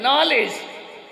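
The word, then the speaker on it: knowledge: से शुरू होती है बोल रहे हैं नॉलेज लिख रहे है के साइलेंट ध्यान रखिए और हमारा हिंदी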